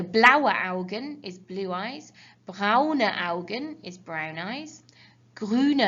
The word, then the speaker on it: braune: Don't forget, when you have an E on the end of a word in German, you always pronounce it with that kind of sound.